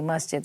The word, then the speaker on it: Masjid: is Mudgett a mosque Oh mustard I'm saying it wrong make that out so Masuda mustard mustard there's an S there and may s ji d Masjid mosque okay yeah that's okay